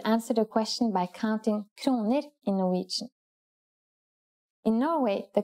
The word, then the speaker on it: kroner: In this lesson, let's see how we could answer the question by counting kroner in Norwegian. In Norway, the currency is the kroner. Please pay attention to this word's pronunciation. Kroner. Let's try to say prices in Norwegian.